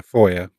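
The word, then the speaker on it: FOIA: I can't remember whoever it's pronounced yeah Foya for Foya there we go I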